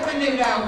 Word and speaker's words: Menudo: But, I mean, they pronounce it Menudo, but come on.